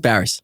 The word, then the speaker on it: Barrass: He Apparently it's pronounced Barrass. I've been saying Barrass this whole time.